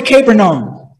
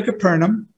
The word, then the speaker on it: Capernaum: left he went to capernum capernum sorry I keep pronouncing it the wrong name so while the official was on his way to Capernaum his servants met him